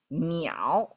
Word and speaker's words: 淼: Now, 水, when we stack three of them, all of a sudden, the pronunciation is completely different. You cannot even infer one to the other. 水 versus miǎo, right?